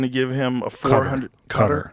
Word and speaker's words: Qatar: Cutter. Is that how you say it? I think so. Cutter. Yeah. Cutter. I've heard it said a bunch of different ways.